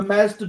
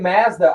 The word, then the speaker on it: Mazda: was like what car Mazda I got you it's just a difference in pronunciation from Australia to America yeah we're here with say Mazda yeah saying Mazda it